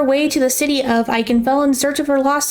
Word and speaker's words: Ikenfell: we're diving into eichenfeld i've heard many people pronounce this game three different ways but i'm pronouncing it i can fell for future reference starting